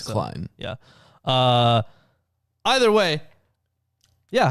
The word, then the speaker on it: Klein: I want to pronounce it Klein.